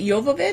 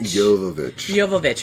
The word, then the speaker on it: Jovovich: Is it Jovovich? Jovovich. Okay, so Jovovich, it's because Jovanka pronounces it with a hard J.